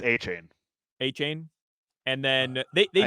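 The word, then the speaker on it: Achane: I think it's A-Chain.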